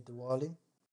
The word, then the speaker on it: Diwali: It's actually Diwali.